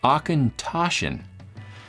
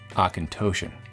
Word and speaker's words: Auchentoshan: I was four so so it's got the phonetic pronunciation on the back here aen tashin not aint toan like I've been saying since I've been born like an idiot let it roll off